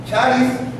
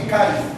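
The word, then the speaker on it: χάρις: La palabra gracia en griego es charis o así caris, que así es como se pronuncia, así como se escribe.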